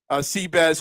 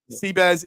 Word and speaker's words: Bezuidenhout: Seabass is how you say Bezuidenhout when you can't say Bezuidenhout, basically.